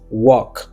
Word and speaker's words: walk: Non, elle n'a pas prononcé là-dedans. C'est walk. Déjà me dit walk, c'est pas walk.